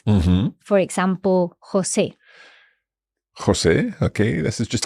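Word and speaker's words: José: lot of different Spanish names MH for example Jose Jose okay this is just like a a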